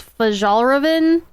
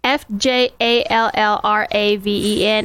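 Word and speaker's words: Fjällräven: It's Fjallraven. That sounds right. I don't know that one. Fjallraven, and the A's have the little 2 dots above them.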